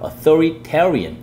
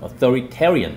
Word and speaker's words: authoritarian: 이거 발음이 좀 어렵습니다 th 우선 들어가니까 이거를 S 발음하시면 안 되고요 그 강세가 authoritarian authoritarian 그게 프리 second 트가 있으니까 주의해서 해주시고 authoritarian authoritarian 많이 연습해 주시기